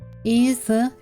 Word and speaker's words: известно: O in the end of the word, non-accent, goes into A. And the transcription will be известно.